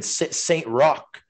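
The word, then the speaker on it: Saint-Roch: they're getting their seventh team next year in saint rock r-o-c-h is that how you pronounce it claude yeah yeah yeah for sure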